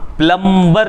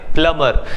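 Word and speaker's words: plumber: होता है प्लंबर प्लंबर आप प्लंबर नहीं बोलिएगा 20 साइलेंट होता है प्लंबर नेक्स्ट है निर्माता जो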